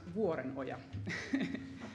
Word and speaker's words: Vuorenoja: in this conference but my uh surname is pronounced waren Oya if you want to know so that's finished